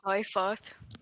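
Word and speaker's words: Qliphoth: You guys start walking up what is known as the Path of Quilpoth? Quilpith? No. I don't know how to pronounce it. It's some weird fucking... Quilpothus? It's pronounced Clyfoth.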